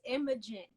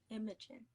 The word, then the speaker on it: Imogen: But if for some reason you never watched Degrassi season 11, nor did you take a phonics class, the way that you say my name is Imogen. Imogen.